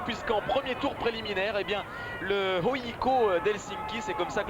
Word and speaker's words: HJK: Ligue des Champions, puisqu'en premier tour préliminaire, le HJK d'Helsinki, c'est comme ça que l'on prononce, le HJK si vous préférez, est allé